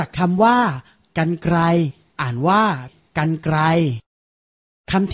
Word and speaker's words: กรรไกร: รับ เริ่ม จาก คำ ว่า กรรไกร อ่าน ว่า กรรไกร คำ ที่ 2 อ่าน ว่า บรรยาย คำ ที่